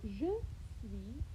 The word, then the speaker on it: je suis: So, je suis, your little S, your final S is not going to be said. It will be completely silent.